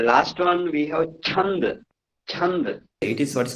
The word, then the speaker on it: chanda: Chanda. It is what's called the pronunciation is chanda.